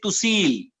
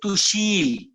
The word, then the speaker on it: Tushil: up or behar people when they pronounce my name they said to see okay okay but those who have a good uh tongue influence over their communication they say to shield okay okay fine you